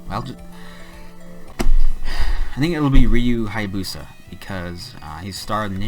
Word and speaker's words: Hayabusa: Oh, I spelled it wrong. Okay. It's Rio. No, it's Ryu. Okay. Ryu Hayabusa. I'm gonna say Hayabusa. I don't know. I think it'll be Ryu Hayabusa because he's starred in